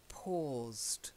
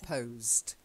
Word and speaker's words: paused: and the next one it's an or sound not an O so it's paused not posed paused hold or say oh